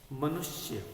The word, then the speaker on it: मनुष्य: उच्चारण कैसा है? मनुष्य। पढ़ना भी है तो इस श का उच्चारण कम हो रहा है।